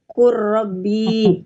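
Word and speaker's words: قل رب: Kemudian ada kul robbi dibaca menjadi kurrobi. Iya, lam sama roh.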